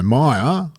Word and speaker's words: Meijer: stores are actually called Meijer, but that's sort of the company. Is it an American origin company? Or, yes. So I'm suspicious of this J that's pronounced Y.